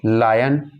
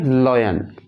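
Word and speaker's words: lion: लायन। लायन। अच्छा, कई बार student इसे गलत प्रोनाउंस करते हैं, वो कहते हैं लॉयन। लॉयन नहीं है ये है लायन।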